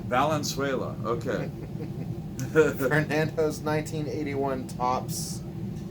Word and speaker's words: Valenzuela: 81 tops whoops Fernando Venezuela rookie card or Venezuela somebody corrected me one time said I was pronouncing his name wrong for a Nando a balanced way that Valenzuela okay and pose 1981